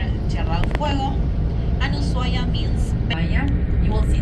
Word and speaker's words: Ushuaia: Yeah, well, some people will say Ushuaia, but actually it's Ushuaia because well, in Spanish the H is silent and it's Ushuaia.